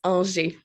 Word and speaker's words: Angers: Have I pronounced the surname correctly there? I've tried to go French, and normally when I try to go French, I fail catastrophically. Almost there. It's Angers.